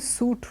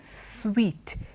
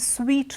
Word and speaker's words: suite: there it is sweet it refers to a kind of large room in a hotel so it's not a suit room it is a suite it's a suite room okay the next